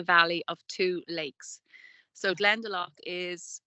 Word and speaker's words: Glendalough: which means the valley of Two Lakes so glendalach is it's a couple of miles from where